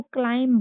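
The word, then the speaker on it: climb: तो इसमें एम के साथ बी आया है तो इसमें भी बी साइलेंट हो जाएगा। हम इसको क्लाइम पढ़ते हैं।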